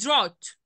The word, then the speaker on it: drought: يبقى انا نطقت الدرات الدي ار تمام، والاي يو والتي drought، ما نطقتش اي حاجه في الجي اتش.